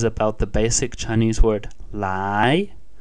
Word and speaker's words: 来: the basic chinese word lie lie pronounced in second tone which means to come